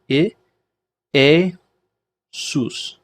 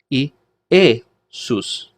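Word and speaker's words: Ἰησοῦς: two three so and smooth breathing mark means no change of pronunciation so E a soos it aces are yes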